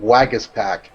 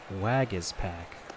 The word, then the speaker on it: Waguespack: name pronunciation it's Jacob Waguespack Waguespack okay so the UE is pronounced like an e that's a so - swag it is PAC Waguespack Waguespack Waguespack okay and yeah